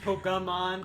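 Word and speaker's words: Pokémon: Yeah, it's like it's like every single person that plays Pokemon always pronounces it as Pokemon and it gets me mad every single time because it's Pokemon. There's no Y in the name. It's not P O K E Y.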